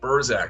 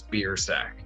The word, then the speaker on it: Biersack: sound less harsh so they'll say like burzak or something that sounds fancier but it is not it is the harshest pronunciation which is beer sack now um just a